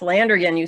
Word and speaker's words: Landrigan: Yes, Landrigan, you pronounced it right.